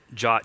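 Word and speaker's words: JWT: we were using the the jot or Json web tokens jot is like the pronunciation called out in the specification um it's a commonly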